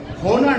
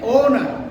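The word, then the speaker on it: honour: তারপরে আমরা দেখতে পাচ্ছি হোনার না, এটা কি হবে? ওনার।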